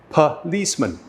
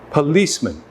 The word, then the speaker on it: policeman: schwa which is up policeman policeman where do you hear the schwa hopefully you heard that the schwa is in the first syllable so just mark this and it's also in the third syllable so we have pup